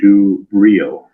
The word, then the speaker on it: Dubril: I wanted to so the pronunciation from our assistant town clerk is Louis and Dubril.